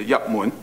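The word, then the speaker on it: 入門: into the moon right Yak moon right that's the Cantonese way of saying it right enter the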